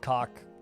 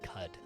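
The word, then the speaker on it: Qud: It's not called cock. It's called cud. It's pronounced cud. It's because you don't know how to pronounce Q and U.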